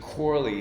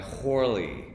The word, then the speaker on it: Corley: these dialogues it says he aspirated the first letter of his name so to aspirate instead of corley he's pronouncing his name with an aspiration so it's not a hard sound it's a va he turns it into a vowel so i imagine it sounded something like horly right which he you